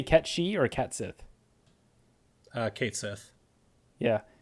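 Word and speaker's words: Cait Sith: catchy or catsith uh Kate Seth yeah apparently can't she is more in line with like the Gaelic pronunciation or Celtic I can't remember which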